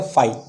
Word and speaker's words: phi: तो इसको हम बोलते क्या हैं मुँह से, क्या वो प्रोनाउंस क्या करते हैं? फाई। क्या बोलते हैं अपन इसको? फाई।